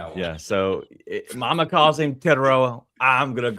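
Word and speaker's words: Tetairoa: Uh, you should have named him something better that I could pronounce. I'm calling him T from now on. Yeah. So, mama calls him Tedoa.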